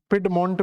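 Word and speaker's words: Piedmont: पेड मंट करके आपको एक स्ट्रक्चर मिले जाएगा पिड मंट भी बोल देते हैं इसको पिड मट तो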